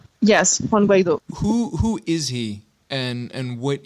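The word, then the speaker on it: Guaidó: Yes, Juan Guaido.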